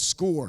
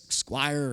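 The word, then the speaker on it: Scoir: We have a program called SCORE. It's pronounced it looks like it's squire or scour I don't know but it's pronounced score for counselors is a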